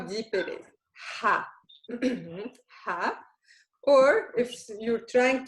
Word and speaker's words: ح: The other letter is the Ha. The Ha is the 7. Okay, and how do you pronounce it? It's an H, but very deep, also from the bottom of your throat.